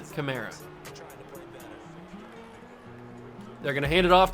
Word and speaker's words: Kamara: that man right there Alvin Kamara or Kamara however you want to pronounce it I think it's Khmer Alvin Kamara they're gonna hand it